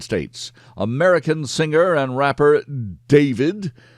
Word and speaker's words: D4vd: American singer and rapper David, spelled with the number four, David Burke, was arrested